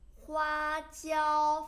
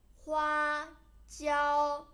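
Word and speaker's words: 花椒: And then Sichuan peppercorn, but you should pronounce it Sichuan peppercorn anyway. 花椒 flatten 花椒 This gives your tongue a numb feel.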